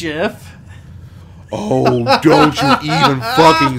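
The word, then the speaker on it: GIF: It's pronounced Jif.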